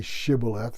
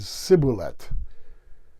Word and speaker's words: shibboleth: The Ephraimites couldn't say shibboleth, instead they said sibulet.